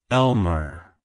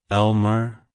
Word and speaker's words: Elmer: meaning it's pronounced as Elmer Elmer Elmer to pronounce it correctly emphasize the first syllable D L and then